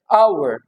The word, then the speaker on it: hour: I have been waiting here for एन आवर. अब आवर, HOUR, एक घंटे से मैं आपका इंतजार कर रहा हूँ. अब आवर को how will we B transcribing it? इसको कैसे ट्रांसक्राइबिंग? ह इज साइलेंट एंड आवर.